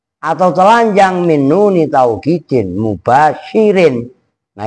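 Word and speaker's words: مباشر: Sepi atau telanjang min nuni tauhidin mubasyirin. Nah, itu enggak ada tnya. Jadi mubasyir. Kalau ada tnya mubasyarah. Begitu loh cara membacanya.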